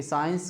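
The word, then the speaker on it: science: तो अच्छी तरह से आप जानते होंगे कि साइंस को हम कैसे समझ सकते हैं तो एस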